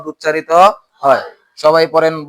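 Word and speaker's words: ح: হামজাহ এরপরে আসেন হা এই হা অক্ষরটিও আইনের মত হলকের মধ্যখান থেকে উচ্চারিত হবে হা উচ্চারণ করার সময় একটু বাতাসটা চালু চালু থাকবে পড়েন হা হা তো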